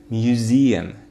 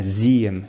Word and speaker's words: museum: Первый слог на, то есть под ударением. Switzerland, Switzerland. No. Museum, museum, museum, museum. Okay, не подходит. Museum. Именно на museum, museum, museum.